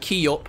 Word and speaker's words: Kiyop: It's pronounced Kiyop for what it's worth. Yup. That does sound actually like... That kind of sounds like Machop. Like, Machop, Machop, Kiyop.